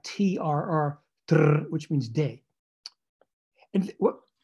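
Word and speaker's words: trr: So you can have a word like K-L-L, gl, there's no vowel there, gl, which means ground, and word like T-R-R, tr, which means day.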